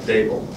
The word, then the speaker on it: Daboll: Yeah, so it's Daboll. D like table, Daboll.